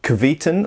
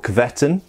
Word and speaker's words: Kvetun: They're based in Russia and they're called Kvetun or Kvetun, depending how you want to pronounce it.